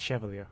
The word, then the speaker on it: chevalier: It's pronounced Chevalier, by the way. Chevalier, yeah. Wait, really? Even Yeah. though it's a CH? It's a French word.